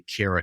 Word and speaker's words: Kara: I always remember how to say your name because I say Kara Cares.